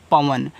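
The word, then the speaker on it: Pawan: आगे लिखा है पी ए डब्ल्यू ए एन इसे पढ़ते हैं पवन। अब देखो पवन में भी प मात्रा नहीं है। व पे भी मात्रा नहीं है तो मुझे नहीं लगाना है।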